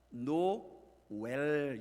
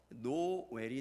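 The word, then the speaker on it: Nowell: 노엘이 아니고 제대로 읽으면 어떤 발음이 될까요? 노웰, 이 정도가 될 것 같아요. 노웰. 그리고 나머지 가사들에도 나오는 노엘을 보면 다 노웰이에요.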